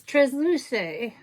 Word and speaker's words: Transluce: And then last but not least, I got schooled on how to pronounce this company. It's Transluce Beauty.